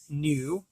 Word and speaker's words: gnu: Apparently she encountered some wildebeest, otherwise known as Gnu, G-N-U, but the G is silent.